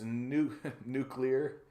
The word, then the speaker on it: nuclear: Comrade, it's nuclear. It's pronounced nuclear.